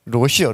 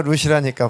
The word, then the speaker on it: 롯: 롯이요, 롯. 제가 룻이라니까, 발음이 세서 룻이라니까. 그래서 참 설교를 잘해야 돼요. 롯하고 룻하고 헷갈리죠.